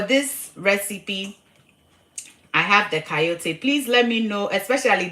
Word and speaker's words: chayote: They call it coyote. It's spelled Chayote. That's how they spell it.